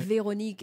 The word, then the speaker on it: Véronique: Because you've got an accent on the E as well, Véronique, right? Véronique, and you would not believe how my name's been pronounced until I pronounced it for people.